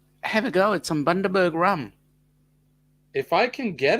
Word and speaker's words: Bundaberg: The pronunciation of the place is called Bundaberg, Bundaberg.